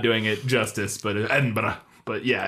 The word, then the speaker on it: Edinburgh: Rowling completed the book while she was staying at the Balmoral Hotel in Edinburgh in January of 2007.